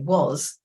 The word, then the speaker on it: was: So, and actually, if you listen carefully, was, the S has a Z sound at the end, but they get used to that.